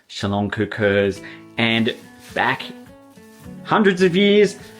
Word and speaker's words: szaloncukor: They are called Salonkakurs.